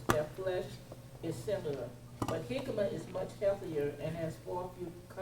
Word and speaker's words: jicama: Did I give anybody a readout on jicama? Yes. Okay, who wants to read the readout on jicama? I have it. Go ahead. It's pronounced jicama? Jicama, yeah, even though it spells like a J, though.